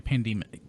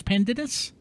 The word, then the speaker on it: Pandinus: So yeah, Pandemus. I thought it was Pandemus. It's Pandinus.